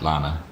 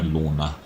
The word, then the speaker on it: Lorna: And he's like, Lana, Lorna, Laura. It's like, that's what I'm saying. She's like, no, Lorna.